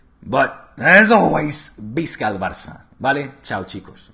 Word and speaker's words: Visca: Which, by the way, can somebody please tell him is Visca, okay? The V is pronounced as a B in Spanish and Catalan. It's not Visca, it's Visca. But, as always, Visca el Barça.